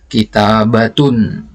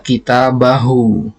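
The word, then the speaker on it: كتابة: Ya, yang di atasnya ini kita bacanya kitabatun. Ya, yang di bawahnya kita baca kitabahu. Tapi ketika diwaqafkan, kedua kata ini bacaannya sama, kitabah.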